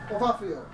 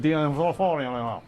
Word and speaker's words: D'Onofrio: Ovafio. Whatever. I can't pronounce it. Vincent D'Onofrio.